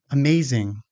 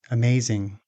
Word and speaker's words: amazing: Amazing. Once again, the stressed syllable is the second one. Amazing.